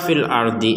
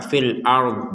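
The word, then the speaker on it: الأرض: didengungkan ayusa wfid kata fil Ardi ini ini karena kalau kita wakaf maka fil ARD begitu cara membacanya jadi kita tidak sekedar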